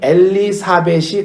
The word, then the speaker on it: 엘리사벳: 이 아론의 아내 엘리세바와 세례 요한의 어머니 엘리사벳이 같은 이름입니다. 그러니까 엘리세바는 히브리식, 구약식 이름이고 그 발음이 신약으로 오면 헬라식, 히랍식 발음이 엘리사벳이 되는 거예요.